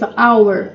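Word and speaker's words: hour: som anauer hora também em inglês our também não se pronuncia o h anauer uma hora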